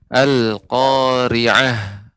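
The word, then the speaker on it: القارعة: Walaupun tadi untuk Al-Qari'ah haknya lebih ditampakkan sedikit lagi, lebih Ya, ditambahkan aliran udaranya. Ya, alhamdulillah Ya. secara umum bagus ya. Al-Qari'ah. Karena sifat adalah hams, yaitu mengeluarkan aliran udara.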